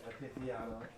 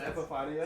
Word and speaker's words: Epifanio: And then we also have the homie we just pulled in, Mr. Epiphaniano. Epifanio. Oh, it's Epifanio?